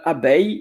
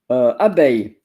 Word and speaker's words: abeille: That's interesting because it's Abeille, as you see, abeille, and it's pronounced A. You notice Eille, A. So it's good to know because there is also groseille, pareil, appareil. So EIL or EILLE, it's A.